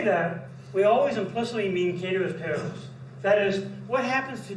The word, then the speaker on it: ceteris paribus: Now the one that we use in economics a lot that you may not be aware of is the Latin expression ceteris paribus, or sometimes pronounced ceteris paribus, and it's Latin for all else being the same.